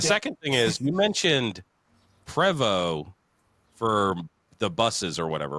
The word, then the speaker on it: Prevost: Yeah, it's Prevost. Yeah, it's French. The T is silent.